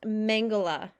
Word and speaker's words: Mengele: is then pronounced Mengele. Mengele? Yeah, Okay. yeah. So Joseph Mengele, he would fall into the same category as